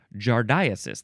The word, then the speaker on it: giardiasis: It is giardiasis. Giardiasis. Or giardiasis, or jardias. Now, how do you say that one? Jardiasis, that would be it.